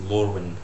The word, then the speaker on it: Lourwind: Yes, that's how you pronounce it too, actually. It's Lourwind. So yeah, what do we do?